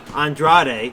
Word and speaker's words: Andrade: Andrade, did I say it right?